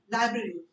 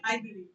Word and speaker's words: library: बहुत ही छोटा सा स्ट्रेच किया हुआ है, लाइब्रेरी, not library.